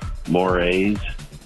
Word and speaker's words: mores: mostly Tom how much no it's pronounced mores when we're talking about you know unwritten societal rules that one might break you keep saying mores it